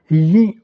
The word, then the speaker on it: gli: Mais attention, ce n'est pas la prononciation naturelle de l'italien. Alors, je vous montre avec un seul exemple la transcription phonologique pour vous montrer en fait que le I dans la prononciation disparaît. On dit gli altri, on ne prononce pas le I.